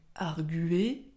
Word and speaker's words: arguer: seulement l'Académie française donc vous pouvez dire les deux sachant que le plus couramment en tout cas si vous voulez suivre l'étymologie on va dire il faudrait prononcer donc arguer et pour que ce soit plus logique on mettrait donc un tréma sur le U et on termine avec